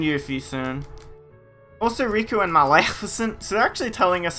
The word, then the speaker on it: Maleficent: So, that's how you say her, that's how you pronounce her name, what do you mean? I'm not joking. It's Maleficent.